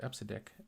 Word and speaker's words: EBCDIC: the IBM mainframe world called episodic and most people don't know how to per say it but it's spelled ebcdic and I used it